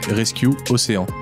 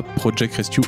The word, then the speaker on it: Projet Rescue Océans: et à l'association projet rescue océans et ça se prononce comme ça pas procheck rescue aux jeunes moins de